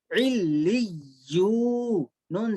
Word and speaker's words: علیون: عین لام زیر عل, لام یا زیر لی, علی, یا واو پیش یو, علیو, نون زبرنا, علیون. ٹھیک ہے, ہجوں سے اس کو میں سنوں گا کل, ہجے بھی اس کے سیکھیے.